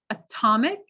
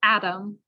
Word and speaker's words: atom: 40 kettle matter bottom now you might notice atomic and atom why are they pronounced differently and again that's stress so at the beginning of a stressed syllable we always use the clear sound but when the syllable is not stressed it can become a sound it could become blurred with the other sounds so atomic atom i think i wrote